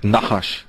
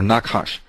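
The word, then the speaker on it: נחש: word for um serpent doesn't have any vowels but it's sort of pronounced like nahash or nakash nakash NH hsh H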